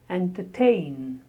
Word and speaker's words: entertain: The next word is entertain. Entertain. Stress on tain.